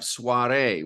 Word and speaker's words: soirée: There are others where you have soirée, when you have French words that enter into the language, they have an E ending that is sounded, it's pronounced.